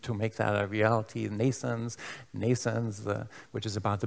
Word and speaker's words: NNAISENSE: trying to contribute to make that a reality nations nations which is about the birth of a neural network based ai so it's pronounced like nascent's birth however spelled in a